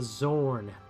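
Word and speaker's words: Xorn: be said about that this is a Zorn that I am painting a Elemental Earth creature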